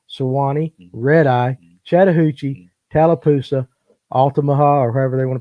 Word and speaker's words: Altamaha: So after those two, you got smallmouth, of course, shoal bass, Suwannee, red eye, Chattahoochee, Tallapoosa, Altamaha, or however they want to pronounce that. You said it right. Altamaha, actually.